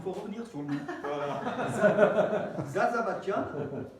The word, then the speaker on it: Zarzavatdjian: Zarzavatian, avec le Zarzavatian de la prononciation arménienne, hein, un nom à coucher dehors.